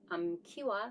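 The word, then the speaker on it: 암키와: 발음이 것에 지기 때문에 한 장씩 있을 때는 기와 라고 하지만 암 쏘 가 결합이 될 때는 암 키와 수키와 이렇게 발음 하셔야 된다는 것도 기억해 두세요 우리가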